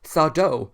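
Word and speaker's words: Zardo: and the introduction of sardo no mister accent on the dough so it's nice to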